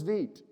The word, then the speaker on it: Vite: Also, in case you're wondering if I just don't know how to pronounce the word Vite, it really is Vite. I had to find it on a video, but that is the case.